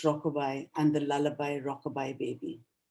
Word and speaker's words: Rockaby: These rhythm or the rhythm of the rebirth fantasies that you speak of are so beautifully illustrated by Rockaby, pronounced Rockabye, and the lullaby Rockabye Baby.